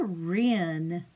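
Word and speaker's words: wren: they're called rinse and you spell it WR e in Ren and they're all over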